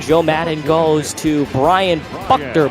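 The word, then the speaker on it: Buchter: goes to Brian bucker believe that if you need if we need pronunciations jump into that iation Channel if we're getting if we're if we're getting that wrong but believe it's Brian Buck dur and either way they'll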